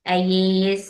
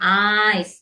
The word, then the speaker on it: eyes: Seperti contohnya kalau baca mata mungkin sebagian ada yang bilang ais. Nah, pasti akan saya bilang eyes.